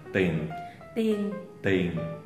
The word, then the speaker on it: tiền: Những từ có ie thì kiểu như bỏ chữ e. Ví dụ tiền thì là tiền.